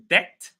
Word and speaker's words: debt: Uh word number two, debt. Without the B, the B is silent.